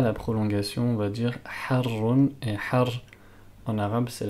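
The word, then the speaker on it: حار: Petite remarque sur le mot harrun, il faut bien prononcer la prolongation. On va pas dire harrun, mais harrun.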